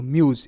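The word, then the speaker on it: muse: উচ্চারিত এম ইউ মিউ এস এর উচ্চারণটা বর্গীয় জ এর মত হবে কারণ এখানে এস এর সামনে ভাওল আর এস এর পিছনেও ভাওল। তো মিউজ এটা কিন্তু ঠিক আছে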